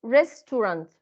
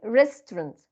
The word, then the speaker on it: restaurant: will be like this restaurant restaurant right so but if we Elite this syllable it will be restaurant restaurant restaurant okay and this words huh